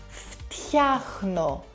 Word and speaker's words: φτιάχνω: Look at φτου or χνου in the verb φτιάχνω. There's no vowel in between to help you breathe.